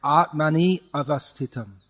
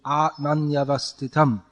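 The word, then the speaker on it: आत्मन्यवस्थितम्: For instance, you're saying Atmani avastitam, but it should be Atmanyavastitam.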